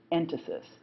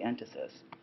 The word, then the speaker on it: entasis: middle you'll see the word written but I'll spell it for you right now it's called ant Isis en ta sis and that has to do